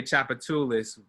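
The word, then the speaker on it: Tchoupitoulas: When they say Chapatulis, you know, you would think CHOP, chop, but it's spelled with a T down there. So like it starts, the first letter is a T.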